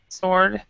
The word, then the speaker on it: sword: Sword. So it's kind of like in phonetics. I'm typing it on the chat. It's actually like sword. We don't say the W part of that.